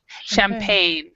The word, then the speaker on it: champagne: Champagne. Champagne. So Oh, the G right here is silent, so it's champagne.